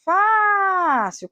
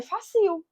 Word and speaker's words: fácil: fácil Olha que lindo fácil qual é a sílaba tônica fa última penúltima se eu não colocasse o acento é muito provável que muita gente leria fascio né O que que a